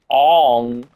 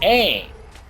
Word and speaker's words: Aang: At least they could pronounce the characters right and not say Ong and Avatar and Iro. Like, what? No, it's Iroh. It's Avatar. It's Aang.